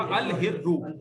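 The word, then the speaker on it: الهر: अल हिर्रु, तो लाम साइलेंट नहीं होगा क्योंकि हरफ कमरी। हरफ शम्सी होगा तो फिर लाम की आवाज नहीं आएगी, बल्कि डायरेक्ट उसकी आवाज, अश्शम्सु।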